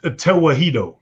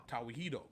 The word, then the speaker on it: Tewahedo: Yeah, the Tewahedo. Tawihedo.